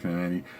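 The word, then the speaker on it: Kamandi: He's done New Gods, he's done Demon, he's done OMAC, Command, I think it's Commandy, I think it's pronounced Commandy, Avengers, X-Men, the list goes on and fucking on.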